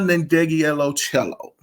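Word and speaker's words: Ndegeocello: had all of these albums except for Michelle nandegielo cello wow I pronounced it right the first time but I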